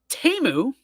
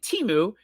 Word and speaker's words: Temu: Sammy, I am glad you said that because Temu is apparently how you pronounce it. We've all been saying Temu because it is the world's worst website.